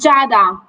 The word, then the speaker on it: Jada: hear you hi G sorry am I pronouncing your your name correctly it's Jada but sorry no no worries